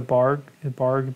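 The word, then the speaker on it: Bargue: currently working through um how do they pronounce the bargs is that how you pronounce them I always just see them in the written form what the barg b-a-r-g-u-e-s barge b-a-r-g yeah it's the um I know the style it's like this drawing style that's very technical um so now that's pronounced I don't know what that I believe it's a barg I could be wrong but yeah live figure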